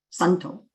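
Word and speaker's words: सन्तो: Of course, in Sanskrit, it's pronounced sun, santo, and which is very similar to the Spanish word, like you have Santa, Santa Barbara, right?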